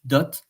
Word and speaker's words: dot: It's one of the rare words in French, dot, that you are pronouncing the letter at the end.